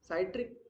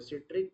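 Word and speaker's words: citric: सा कह रहे थे तुम साइट्रिक प्रोनाउंस शायद करेक्ट नहीं है। सिट्रिक एसिड होता है वो।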